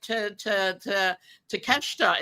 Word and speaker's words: Takeshita: When he first came out, I'm like, Takeshita is how you say it. But in Asian names, sometimes you don't pronounce all the letters or you hop over.